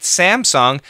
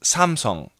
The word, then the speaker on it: Samsung: Tonight, good clear t sound, tonight, Samsung. Now, what's interesting, in Korea, where I lived for many, many years, the pronunciation is Samsung. But in America, Samsung.